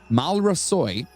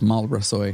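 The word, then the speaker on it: Maolra Seoighe: the murders oh boy mal ra soy really close uh no i actually have the the it's marlborough soy is it otherwise known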